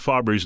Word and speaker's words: Faber: ask me about Mark Faber's name people think it's Faber it's not fa it's Mark Faber that's how he pronounces his name he was interviewed on